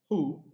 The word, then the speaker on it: who: these two relative pronouns who and whom in these two words the letter h is not pronounced it's silent okay so it is